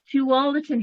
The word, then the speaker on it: Tualatin: completely botch it again tualatin hills to all the tin hills thank you so